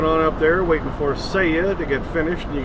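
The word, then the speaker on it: Saia: S A I A how you pronounce that. It is Seiya, apparently.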